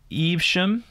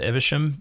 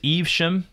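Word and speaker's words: Evesham: not bad pronunciation uh it's eve shem i think i may have said ivisham or eve but it's eve shem dang say that three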